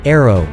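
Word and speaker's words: ARRW: describing AR AR w which is pronounced arrow as a cruise missile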